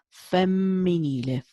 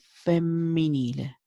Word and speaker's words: femminile: Remember, the double letters in Italian are very, very important. So it's femminile, femminile.